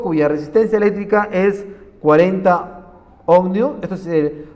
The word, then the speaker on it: ohmio: Procedemos de un foco cuya resistencia eléctrica es 40 ohmio, esto se pronuncia ohmio, y es la unidad de la resistencia de R, miren, 40.